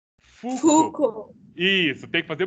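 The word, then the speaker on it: Foucault: pronuncia ou certo e você nunca pronuncia as últimas letras nunca pronuncia as últimas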